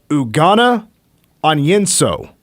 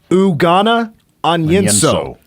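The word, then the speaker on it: Ugonna Onyenso: I think I do because when I got the pronunciation guide, it was typed up differently than I thought the pronunciation was actually. It's Ugana Onyenso. Ugana Onyenso.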